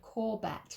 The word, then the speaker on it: Courbet: It's spelled Cobbett. No, Corbett, like courgette but with a B.